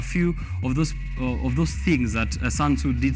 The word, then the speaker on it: Sun Tzu: written by Sun Tzu, or it's Sun Tzu. The pronunciation is Sun Tzu, who was a general.